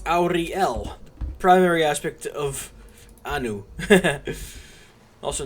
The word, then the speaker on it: Auriel: opposite in fact it's auriel primary aspect of anu also known as akatosh but details i say auri l in three different syllables because that's a dragon name it's a dragon shout every dragon name is